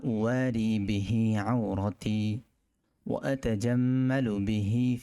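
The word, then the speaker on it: أُوَارِي: বাংলা উচ্চারণটা মিলিয়ে নিই, আলহামদুলিল্লাহিল্লাযী কাসানি মা উওয়ারি বিহি, উওয়ারি একালিফ টান, উওয়ারি বিহি একালিফ টান দিতে হবে।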